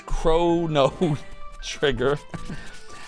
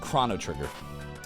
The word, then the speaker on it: Chrono Trigger: pronunciation has won uh 24 of you think that it's Crono trigger and six of you have it correct Chrono Trigger So 20% of uh twitch viewers pronounce it the right way of Chrono Trigger man I